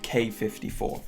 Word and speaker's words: Quai 54: decided we're going to go with k54 you know the actual way to pronounce it i mean it doesn't really matter whatever you want to call them geez ek 54 and the leather the